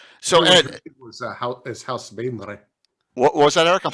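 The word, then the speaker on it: Baenre: The one that throws everyone is House Bainley. Which is sometimes pronounced Boehner, but I don't know about that. Or House Bainray, but I always wanted to do it with like the French.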